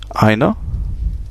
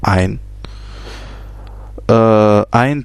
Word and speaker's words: eine: Frau, on a vu cette diphtongue E et I, ei, qui se prononce ei, donc eine Sonne, eine Frau, et ein Automobil, ein Kind, tout simplement.